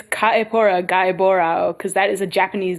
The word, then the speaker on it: Kaepora Gaebora: I don't know how to read these pronunciation guides. Kaepora Gaebora, which I guess if it's just Japanese, yeah, it would be Kaepora Gaebora.